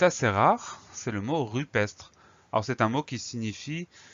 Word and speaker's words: rupestre: Donc ce mot rupestre, il s'écrit à peu près comme il se prononce. Pour obtenir le son E de rupestre, on ne met pas d'accent du tout sur le E, tout simplement parce que derrière ce E, nous avons deux consonnes qui se suivent, même